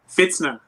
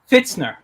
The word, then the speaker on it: Pfitzner: renee how do you say your last name fitzner fitzner okay renee fitzner um you are an artist